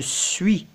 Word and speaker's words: suis: ce une ist je suis je n'entends pas le s je suis je suis